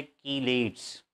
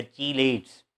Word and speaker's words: chelates: तो ये वाली जो स्ट्रक्चर है, इस स्ट्रक्चर का नाम है कीलेट्स या चीलेट्स। दोनों प्रोनाउंसिएशन है, अमेरिकन और ब्रिटिश।